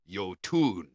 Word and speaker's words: Jötunn: The word Jötunn is pronounced Jötunn, and the J is pronounced like the Y in yes, and the word comes from Old Norse, an ancient language spoken by the Norse people of Scandinavia.